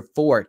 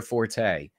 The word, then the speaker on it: forte: not my fort and yes that's the proper pronunciation look it up it's your fort not your Forte this is not my fort it's not my